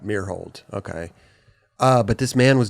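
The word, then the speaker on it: Myrholt: Meerhold. Meerhold.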